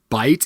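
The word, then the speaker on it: bight: it written out but folks bite is spelled b-i-g-h-t not b-i-t-e so we're not talking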